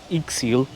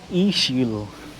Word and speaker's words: Ixil: The X here in uh in Mayan is used as a sh sound like a shh. So it's not ixil even though it's spelled iix i l. It's eil.